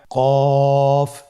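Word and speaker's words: قاف: কফ উচ্চারণের ক্ষেত্রে অবশ্যই তিন আলিফ টেনে পড়তে হবে।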